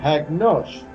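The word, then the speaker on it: ἁγνός: La palabra puro viene del término griego hagnos. Se escribe J-A, una G intercalada, N-O-S, con un acento en la O.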